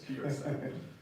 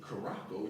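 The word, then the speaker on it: Curaçao: I didn't even know how to pronounce it at first, but I know it's Curacao. I'm like, what is it? Caraco? You know, it look like Caraco. Some people probably call it Caraco, but it's the ABC Islands.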